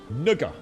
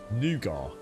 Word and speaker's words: nougat: doc how you doing nugger that's not how we pronounce over here yeah we wouldn't i've never heard anyone in the uk called nugget nugget nougat not nugger no that's not the way we pronounce it mate